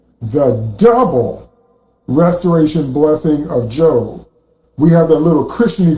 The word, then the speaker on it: Job: Job, J-O-B, it looks like Job, but you pronounce it Job.